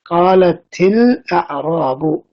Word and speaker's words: قالت الأعراب: of joining them together, we read qalatil a'rabu. So the kasra there is just for pronunciation purposes, but actually that ta is ta'ut ta'nith as-sakina.